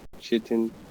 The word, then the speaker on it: chitin: It's got like that chitin. How do you say it, Magic? Chitin. Thank you.